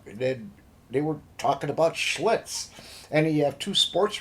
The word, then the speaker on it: Schlitz: about another shitz how about another shs it's pronounced Schlitz and right off the bat we're getting we're